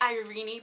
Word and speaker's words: Irene: ireenie and Ivan and I like the irony pronunciation I don't like the Irene pronunciation and Irene E is a Greek